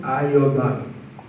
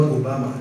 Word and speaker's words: Ayobami: My name is Ayobami, pronounced Ayobami, not Obama. This is the opposite of Obama.